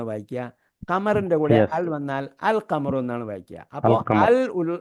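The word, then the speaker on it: القمر: കമറി letters എന്ന് പറഞ്ഞാൽ കമറിന്റെ കൂടെ അൽ വന്നാൽ അൽ ഉച്ചാരണം ഉണ്ട് ഇല്ലിന് ഉച്ചാരണം ഉണ്ട് അതുകൊണ്ടാണ്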